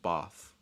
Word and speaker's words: Bath: say like like but for the town it's bath because the town is fixed in the south